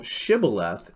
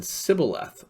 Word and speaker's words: shibboleth: two different hebrew tribes the aphromites could not pronounce sybileth or shibboleth they couldn't say sh so they just say s okay and this is